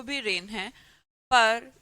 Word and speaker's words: reign: है, जी साइलेंट है, जी साइलेंट है, बोलते इसको भी रेन है, पर इसका मतलब होता है रूल, किसी राजा का रेन।